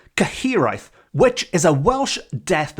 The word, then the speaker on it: Cyhyraeth: the spine chill inspector known as the caheri caheri which is spelled c y h y r a e t h caheri which is a Welsh